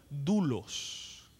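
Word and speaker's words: δοῦλος: Pero hay una palabra en el original griego que se pronuncia de esta forma: dulos.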